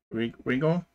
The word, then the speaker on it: Riggle: So it is Riggle. That's how you say his name.